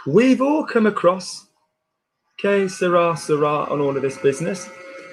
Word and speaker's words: sera: Now notice the S-E. How do we pronounce an E in French unless it is caveat E-S-E-T-E-R-E-Z? No. What I mean is, how do we pronounce an E without an accent on it unless it is E-R-E-S-E-T-E-Z? So it's not sera, which is will squeeze. Yeah, will squeeze. I want will be.